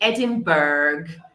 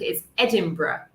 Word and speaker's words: Edinburgh: Não é, como eu frequentemente ouve, Edinburgh. Pessoas veem burger e acham que é tipo burger. Edinburgh. It's Edinburgh. Edinburgh.